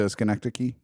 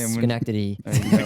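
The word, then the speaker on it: Schenectady: That's when she moved to Skencti. Mhm. Ski. I'm sorry. I don't want to harp on this. It's Skenctity.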